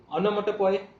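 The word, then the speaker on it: onomatopoeia: ओनोमोटोपोई, ये पोआ नहीं होता है, पोए होता है।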